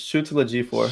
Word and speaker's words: Chiwetel Ejiofor: Chiwetel Ejiofor. It's Chiwetel Ejiofor.